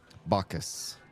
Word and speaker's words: Bacchus: Bacchus.